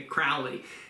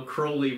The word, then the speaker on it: Crowley: TV shows and stuff, they all say Crowley, and but if you go back to how Crowley wrote about himself, he jokes that it's Crowley, it rhymes with holy, but of course he was not anything but.